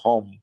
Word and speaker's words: Home: Como yo pronuncio mi apellido Home, yo lo pronuncio así.